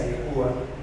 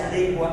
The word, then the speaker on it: adecua: ya no se adecua no se dice adecúa ya no se adecua a las necesidades de